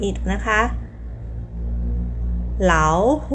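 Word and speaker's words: 老虎: ออก เสียง 3 กับ 3 อิฐ นะ คะ เหลา หู เหลา หู จำ ได้ มั้ย คะ เหลา หู คือ สัตว์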